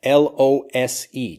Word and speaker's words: lose: losing something right now, L-O-S-E, to lose something. But loose, and listen carefully to the difference in these pronunciations. Lose, it's like L-O-Z or L-U-Z or something. Lose versus loose.